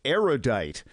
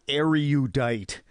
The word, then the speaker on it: erudite: surprising number of erudite people mispronounce erudite which has three syllables not for say erudite not erudite because you are judged